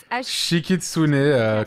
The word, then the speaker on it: Shikitsune: Shikitsune, comme ça se prononce à la japonaise.